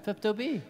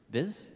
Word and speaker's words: Pepto-Bismol: Pepto-B. Well, you don't say B. Say the whole first syllable of the second word. Biz?